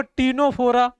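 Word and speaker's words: Ctenophora: देखो बस अब अग देखो टीनो फोरा टीनो टीनो फोरा सी साइलेंट है इसका इसको क्या बोलेंगे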